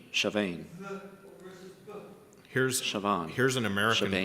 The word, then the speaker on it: Siobhan: And it's pronounced, Well, the combination of letters can be pronounced in one of two ways. It's either V or B.